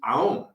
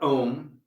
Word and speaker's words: Aum: the Shri mantra is Aum, the seed syllable. It is the primordial sound that begins the universe and dissolves it. And it's not Om, it is a full set. Aum.